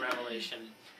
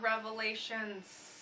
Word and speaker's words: Revelation: with the book of revelation that is how you say it not revelations oh if you learn anything from us it's questionable um please say revelation and not revelations it's one revelation and i'll say a